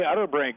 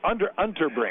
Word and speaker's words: Unterbrink: Well, we're now joined by former Bobcat Utterbrink. It's pronounced that right? That's pretty close. Okay, Unterbrink.